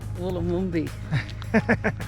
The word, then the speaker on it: Wollomombi: Wollomombi.